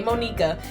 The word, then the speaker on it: Monika: Okay, let me pronounce it right. Okay, Monika, that I was practically dragged here by Sayori.